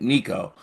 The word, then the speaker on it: Nico: Spun this back on Nico and their camp in a way I'm sure they did not see coming.